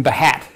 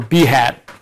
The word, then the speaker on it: Behat: to talk about automated testing using bat or B hat or whatever else you want to pronounce it I think the cool kids call it bat um I've always called it beat because of the logo on the Drupal extension project page it has a B on a hat um so I really